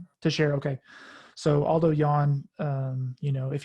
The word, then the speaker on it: Teixeira: Teixeira.